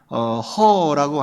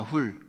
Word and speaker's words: Hur: 허라고 하는 거, 이건 이제 영어식 발음이라 이래요. 허는 HUR이잖아요. 이건 이 히브리식 발음으로는 훌입니다. 훌. 그러니까 훌의 아들.